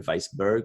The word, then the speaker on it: Weissburg: Wood, Robert Weissburg, if it's pronounced in German, Weissburg, which means like White Mountain, I think.